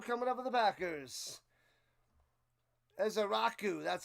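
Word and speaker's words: Ezeiruaku: Ezaraku, that's how you say it. Ezaraku.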